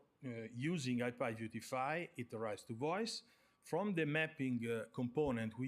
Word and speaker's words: Vois: Voice is pronounced like voice in English, like so it has to do with communication, let's say, but it means Voila simplification library.